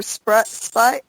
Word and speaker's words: Spate: Rich, is it Spate or Spite? Like, how do you pronounce Spate. it? Richard Spate. Spate.